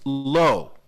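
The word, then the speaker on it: לא: lamid or lamid alif they both are pronounced the same both of these are pronounced low but the first one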